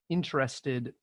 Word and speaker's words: interested: First one, interested. Let's focus on the first syllable.